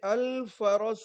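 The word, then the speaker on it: الفرس: हिमा रजल हिमार अ देखिए ये अल फरस है अल फरस नहीं है रे इसमें साइलेंट नहीं है साकिन नहीं है बल्के मुतहर है पानी दे ब बाबा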